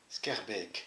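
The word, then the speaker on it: Schaerbeek: On le prononcerait à vue SK, Adam. Ça se prononce Skerbe. Skerbeek. Skerbeek.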